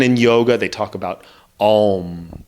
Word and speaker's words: Om: Even in yoga, they talk about Om. They say that O-M is how it's spelled, Om, Om. But it's really A-U, M.